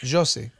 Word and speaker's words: Yossi: It's a Y, but it's Yossi.